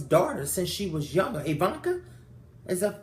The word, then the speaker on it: Ivanka: Ivanka? Is that pronounced right? Ivanka?